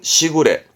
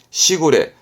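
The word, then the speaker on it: 時雨: 말았다 하는 비를 말합니다 발음은 시구레 시구레 이건 특별 특별이기 때문에 통으로 암기하셔야 되는 시입니다 그러니까 뭐 흔히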